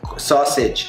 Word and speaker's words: sausage: Sausage. Sausage. Sílaba tónica. Sausage. Has más énfasis. La otra sílaba casi en nada.